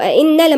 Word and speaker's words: أئنا: يقولون أئنا حرف قلنا مشدد وبعدين ألف المد دي لازم تتنطق، يعني في كتير ما بينطقوهاش بيقولوا أئنا لمردودون، لا لازم نوضح إن ده مد طبيعي مقدار حركتين.